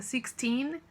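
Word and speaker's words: sixteen: terminar em tina e é muito importante que você pronuncia o tina para não confundir com o número 40 50 60 six six 60 sixtini é 16 então tem que ter muito cuidado e pronunciar o fim da maneira correta tá bom passando na enfim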